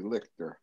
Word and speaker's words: Lichter: You pronounced my name correctly, Lichter.